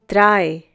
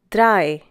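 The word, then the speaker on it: drei: end of words such as mats pots bits dry once again dry the next one is fear once again fear the pronunciation is similar to the English word fear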